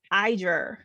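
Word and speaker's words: Yizhi: No, it's Iger. Close to that. So the Y is an I sound.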